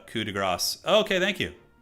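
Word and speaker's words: coup de grâce: Coup de grace is pronounced coup de grace.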